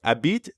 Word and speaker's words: habite: say by the way a beat technically starts with an h but since the french h is silent we treat it like a vowel a bit that's right and then